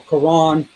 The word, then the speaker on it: Quran: He recited the word without the Hamza, such that Quran would rhyme with the English word lawn. So Quran, lawn.